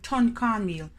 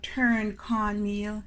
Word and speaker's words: tun cornmeal: Some Jamaican ton cornmeal. It's nothing about no turn cornmeal. Yeah, you can spell it away there, but Jamaican pronounce it as ton cornmeal.